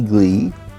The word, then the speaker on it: gley: We happy glee. As you can see, it is spelled G L E Y.